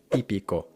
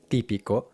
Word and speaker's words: típico: the reason why, because the Spanish te is pronounced with the tongue against the top teeth, típico, típico, not against the roof of the mouth, typical, typical, típico, typical.